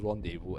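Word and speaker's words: rendezvous: what's wrong with you it's pronounced rendevu and then now it's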